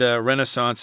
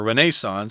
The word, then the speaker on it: Renaissance: Yeah, and Renaissance is the American pronunciation. I believe if you go to England, you'll probably hear Renaissance. It is Renaissance in England. As their pronunciation. But we'll use the American pronunciation since we are Yankees here.